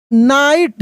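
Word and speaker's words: knight: A young नाइट। इसको भी नाइट ही पढ़ रहे हैं। यहां पे के साइलेंट है। फिर जी एच साइलेंट है।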